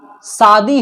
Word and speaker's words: शादी: जैसे मैं कह रहा हूं, बच्चे कहते शादी हो रही है। भाई यहां तालव्य श है, तालव्य श का उच्चारण तालु की मदद से करते हैं।